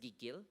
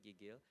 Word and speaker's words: gigil: So for Renan and for my foreigner colleagues at AppsFlyer, it's pronounced gigil, okay, gigil, gigil.